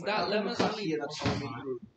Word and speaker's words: Ptolemy: Ptolemy. Because the P is silent.